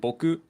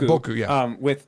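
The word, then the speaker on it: 僕: Like, for example, boku is used with two different pronunciations, boku and boku. And boku is the traditional pronunciation.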